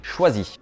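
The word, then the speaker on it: Chwazi: Troisième, choisi. Ouais, mais ça s'écrit pas choisi comme on a appris au CP. Non, C-H-W-A-Z-I.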